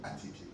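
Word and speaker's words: attiéké: Et je voyais le ministre qui dit non, non, prononcez Atieke.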